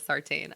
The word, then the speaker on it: Sartain: And I'm sorry, that doctor's name is Sartain. I keep saying it wrong.